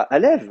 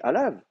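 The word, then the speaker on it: עָלָיו: On dit pas alève, on dit alave.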